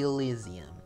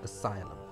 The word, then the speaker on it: Asylum: the elysium now that i used to pronounce it as uh the elysium uh from four years ago uh because i i followed carmelo's um how he said it in his video so now i figured out that it's not actually pronounced as i mean the elysium it was pronounced asylum well well carmelo kind